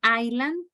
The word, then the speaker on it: island: South, here island. This S, the first S is silent.